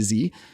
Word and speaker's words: Z: I have to say Z as a good Canadian, or American pronunciation A to Z, which I do have to admit rhymes and flows a little bit better than A to Z.